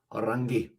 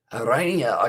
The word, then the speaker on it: Arania: Orangi. Hopefully I pronounced that correctly. Arania, okay. So I did say that well and truly wrong, but Arania, I will remember that one for the future.